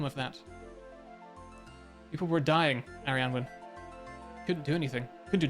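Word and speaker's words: Arianwen: Arianwin. No, that's right. It's right. It's right. I'm right. We're good. We're good. That's the Welsh word.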